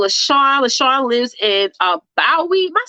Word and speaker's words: Bowie: got my girl lashawn leshon lives in uh bowie am i saying it right sean bowie marilyn yes bowie maryland that's a really really really good i